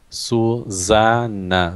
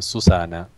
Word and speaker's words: Susanna: And it's Susanna, so it's double N, and the middle S is Z, it's not S. I was saying Susana.